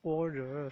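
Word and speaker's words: 般若: 般若儿，般一般计较，不要一般计较的般，若草字头那个若，般若念作般若儿，是妙智慧。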